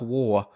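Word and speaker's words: Waugh: break into the team the surname war is spelt w eh ugh ah sounds like war world war two but it's spelt differently mark war finally kind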